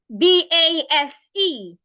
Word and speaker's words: base: So the first word, B-A-S-E. The letter S in that word retains the S sound. So you pronounce it as base, as in snake. Base.